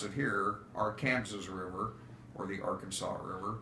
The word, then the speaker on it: Arkansas: of the state of Kansas the as we pronounce it here our Kansas River or the Arkansas River okay makes a